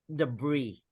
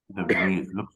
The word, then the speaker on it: debris: m is cleaned up debris the breeze debris looks like a French word yeah originally it is teacher oh okay you're right but here we don't pronounce the s breathe Francis person so